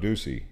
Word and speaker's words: Ducey: not know that and someone tried to say his name was doug uh pronounced doug duchy but it's doug ducey jeff oral valley safe